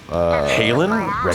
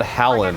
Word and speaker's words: Halen: Halen signed up with the Wreckheads. She commands the Wreckheads? They keep pronouncing that Hallen or Holland, and it really bums me out.